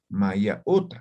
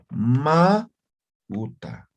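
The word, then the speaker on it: ma uta: Generalmente no se expresa de esta forma, ¿sí? No se dice Maya, Uta, sino se dice directamente Ma, Uta, ¿sí?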